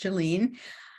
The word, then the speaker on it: Jolene: That's how it's pronounced, Jolene.